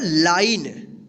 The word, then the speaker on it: line: तो आप हमेशा ध्यान रखिएगा, अगर ई से पहले अगर कोई वोवेल आई आता है तो इस आई का आई उच्चारण होगा, लेकिन ई का कोई उच्चारण नहीं होगा।